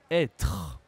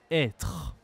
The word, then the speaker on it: être: French d'accord et donc on prononce comme un accent grave être être si je n'utilise pas